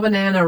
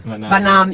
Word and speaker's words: banaan: Just new, like the green packaged cheese with a little banana. Wrap it around. Jonkas. Jankas with, how do you say banana in Dutch? Bananen. Banaan.